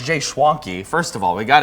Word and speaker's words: Schwanke: Oh, it rhymes with donkey. Yeah, well, so as soon as I said it, my executive producer Maddie was like, "It's Schwanke like donkey."